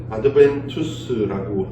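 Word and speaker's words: adventus: 영어로는 어드벤트라고 하고요. 라틴어로는 아드벤투스라고 읽습니다.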